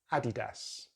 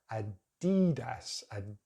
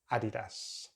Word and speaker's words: Adidas: Adidas, but in British English, we're going to stick at the beginning for the stress, Adidas.